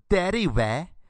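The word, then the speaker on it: dérive: a word for this it's called the daddy where but it's spelled derive but the first e is the French e with the little hat or pip on it you know what I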